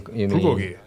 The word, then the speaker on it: bulgogi: You mean Bulgogi. Okay. Oh, you mean They're putting the emphasis on the wrong syllable.